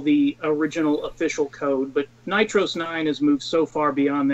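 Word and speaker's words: NitrOS-9: Nitros 9, like a long O sound?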